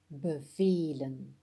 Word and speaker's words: bevelen: Pour bevelen, le E en jaune se prononce E. Bevelen, ce qui est un son long.